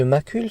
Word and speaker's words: macule: s'en rappeler c'est que macule se prononce comme ma couleur indiquant donc que c'est